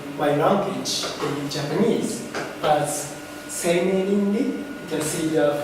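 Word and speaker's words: 生命倫理: Well, the term bioethics is translated into my language in Japanese as seimei-rinri. You can see the 4 Chinese characters here. It's pronounced seimei-rinri.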